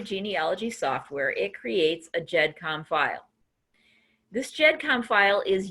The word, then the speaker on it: GEDCOM: creates what's called a GEDCOM or a GEDCOM file. Now, I've heard it pronounced both ways, either with a hard G or with a soft G. But I'm going to call it a GEDCOM file just because that's what I'm used to.